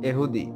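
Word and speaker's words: יהודי: হিব্রুতে উচ্চারণ এহুদি, আর এর পরের শব্দের শুরু ওয়াই স্বরবর্ণ ইউরোপীয় ভাষায় যে দ্বারা প্রতিস্থাপিত হয়।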